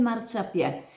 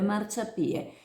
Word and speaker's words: Marciapiè: molti conoscono come El Marciapiè, con l’accento sulla è per non correre il rischio di confondere il dialetto marinante con il dialetto chioggiotto che la pronuncerebbe Marciapie come ha sottolineato la dirigente del Comprensivo Sottomarina Sud, Simonetta Boscolo.